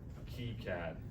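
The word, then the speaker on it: KiCad: to be using uh key CAD I think is how you say it that's right yeah yeah um and also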